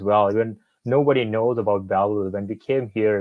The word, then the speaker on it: Belleville: So I'll start with my Belleville International.